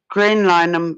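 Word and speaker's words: Graham Linehan: Graham Lineham, yeah.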